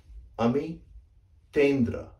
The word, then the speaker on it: Amitendra: You see this word, fury? Well, this sound that you make, the, that is this character, the. And that is what goes in this T here. So this is actually correctly pronounced Amitendra.